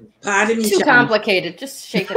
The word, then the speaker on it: Parmigiano: So we say Parmesan. Mm-hmm. It's Parmigiano. Parmigiano.